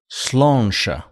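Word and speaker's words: Sláinte: Is it pronounced Slánte? Slánte.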